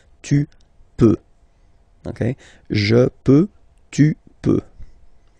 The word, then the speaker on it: peux: Final X not pronounced here, okay? So you get X, but you don't pronounce it, so basically you get the sound peut, je peux. Okay, so I can, je peux. Okay, then tu peux. Same pronunciation and same spelling or writing. Okay, P-E-U-X. Okay, you don't pronounce the final X.